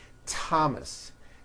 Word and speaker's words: Thomas: Although these next words and names are spelled with a TH, they are pronounced as if they were spelled with a normal T, like that. And these words are Thomas, Thompson, Teresa, Thailand, Thames,